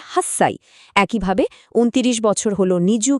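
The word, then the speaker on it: 八歳: যেমন আট বছর কিন্তু হাঁচি সাই নয় বরং এটাকে বলে হাস সাই।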